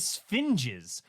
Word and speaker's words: sphinges: Oh, my patron here tells me that the plural of Sphinx is sphinges. I'll let Eminem know we found another word to rhyme with orange.